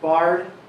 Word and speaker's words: Barr: photo so captain bozo that last name is pronounced bard captain bard was born